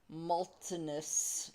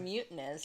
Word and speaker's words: Mutinous: Fine, we'll play Moltenus Massacre. I thought it was molteness as well. I said it wrong when we when I did the video yesterday. It's mutinous. It is mutinous massacre.